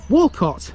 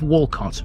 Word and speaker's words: Walcot: the other one and even though it's pronounced the same way it's spelled slightly differently having only the one